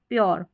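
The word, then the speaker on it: pure: जैसे जैसे यह है प्योर प्योर। अब इसको यूर ऐसे बोलेंगे यू अ ऐसे तो प्योर करके बनेगा। तो अगर बोलेंगे तो प्योर यह उच्चारण आएगा।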